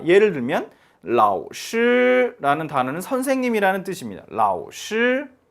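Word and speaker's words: 老师: 자, 그런데 정확하게 발음해 주려면 이렇게 해야 됩니다. 라오슈 이렇게 발음해 줘야 돼요. 그럼 뭔가 어색하잖아요. 그럼 그렇기 때문에 앞에를 삼성을 올라가다 말고 바로 일성을 해 주는 거죠. 반쪽 반만 올라 가지고 바로 일성 발음을 해 준다. 그래서 라오슈라고 발음을 해 줍니다.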